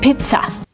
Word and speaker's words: pizza: word is pizza pizza the first vowel is a long e like green beans P Pizza we don't use the short sound I like milk it's not pizza it's P Pizza the second syllable is not stressed it's pronounced with a relaxed a pizza pizza use a relax uh like cup and up it's not pizza it's